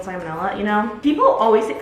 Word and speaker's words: salmonella: Also, I know that it's not actually pronounced salmon vanilla, but I think it's funnier calling it salmon vanilla than calling it salmonella, you know?